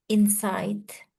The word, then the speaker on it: insight: Wawasan is Insight. insight. And do not forget, if you have G and H, we don't need to pronounce that insight.